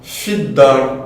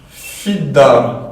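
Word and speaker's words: في الدار: Donc là ici par conséquent, on dira fid-dar, donc on ne prononce pas le lem. Et on ne prononce pas la hamzatul wasl. Pourquoi? Car elle est en milieu de phrase. Donc on dira fid-dar, d'accord?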